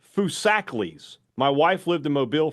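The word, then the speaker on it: Foosackly's: Just a heads up, it's pronounced Fusakles.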